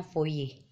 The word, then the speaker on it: Fourier: Baptis Joseph voice ya jadi for ini menanya dibacanya foye nah deret yang selanjutnya